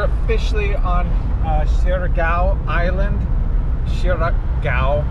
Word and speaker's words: Siargao: port of dapa on shirgaow island so we're officially on uh shiragao island shirak gao i think is how it's pronounced anyways i'll get it